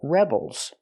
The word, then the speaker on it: rebel: They're called rebels. A person in a rebellion is called a rebel. It's a noun, it's a person, put the stress on the first syllable, rebel.